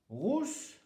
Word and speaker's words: rousse: Rousse, attention à la prononciation, rousse, à ne pas confondre avec russe.